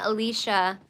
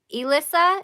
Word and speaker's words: Elissa: sorry I keep saying Alicia okay so Elissa is that it like Melissa but Elissa am I seeing it